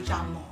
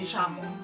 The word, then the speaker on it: llamo: like, in her province, the double L, they pronounce it like, like, me llamo. But she says, in a couple hours lower of Argentina, they say, ya, like, me llamo. But when I learned Spanish here in America, they teach you, me llamo.